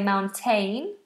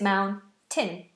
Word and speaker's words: mountain: please pronounce mountain mountain lots of people say mountaine but it's Mound tin Mountain I climbed a